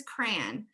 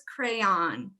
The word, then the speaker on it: crayon: And for me, this is definitely, I'm with the 1 syllable crowd here, the minority in here so far. For me, this is crayon. For other people, it's crayon. For other people, it's crown.